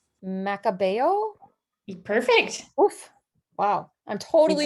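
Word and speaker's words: Macabeo: amanda you're gonna have to help me with pronunciation macabao perfect oof wow i'm totally just i'm just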